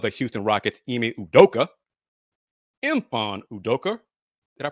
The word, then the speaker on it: Mfon Udoka: head coach of the Houston Rockets IMI udoka empan udoker did I pronounce that right it's more like um yes